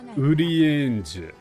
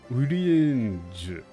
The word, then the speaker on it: Urianger: Is it, it's pronounced, the Japanese pronunciation is Urienge. Urienge. What's Urienge? Like, the katakana is Urienge.